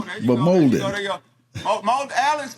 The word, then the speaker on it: Molden: Molden. Yeah, like Golden Molden.